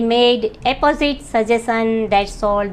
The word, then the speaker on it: apposite: और दोनों को प्रोनाउंस भी अलग-अलग तरीके से किया जाता है। यह पहला शब्द है हमारे पास ए पी पी ओ एस आई टी ई अपोजिट।